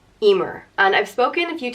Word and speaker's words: Emer: it means swift on it's pronounced e mur Emer and I've spoken a